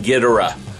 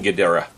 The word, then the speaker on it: Ghidorah: i'm sorry king ghidorah i know some of you are going to catch me on my pronunciation it's king ghidera um well it really depends on which version of the movie you watch i remember one version called a king ghidorah but i digress neither